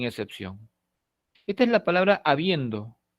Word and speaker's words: habiendo: Esta es la palabra habiendo. Por supuesto, habiendo no es habiendo, ni habiendo, es habiendo. El acento se encuentra en la segunda posición silábica. Esto es la penúltima sílaba.